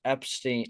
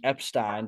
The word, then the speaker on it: Epshteyn: beer show I'm Sor to have on Boris Epstein Epstein did I say it right they said it